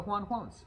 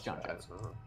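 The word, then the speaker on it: J'onn J'onzz: So Juan Quones, right? That's how you pronounce it. Right. Yeah. So, no, it's John Jones.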